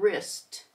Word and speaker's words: wrist: we have w r w is silent we just hear the r in write wrap and wrist this is a deeper